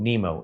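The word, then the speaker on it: Nimo: The laptop manufacturers called Nemo. N I M O. Just like the clownfish from the cartoon animated movie, but that's spelled Nemo O.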